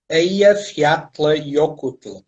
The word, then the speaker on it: Eyjafjallajökull: O Eyjafjallajökull ficou famoso primeiro pela grande dificuldade dos apresentadores do Jornal da Noite e de poderem pronunciar o nome, que na verdade se nós... Como é que se pronuncia? Eyjafjallajökull.